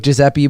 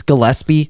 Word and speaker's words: Gillespie: actually brown yeah and that looks like giuseppe but it's gillespie like that's how he pronounces it it's just like